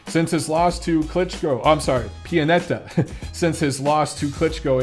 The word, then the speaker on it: Pianetta: And I can say his name like Pianetta because he's Italian and my ancestry is Italian.